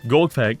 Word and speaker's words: Golgfag: I gotta stop putting emphasis on the last part of the first name. Golgfag.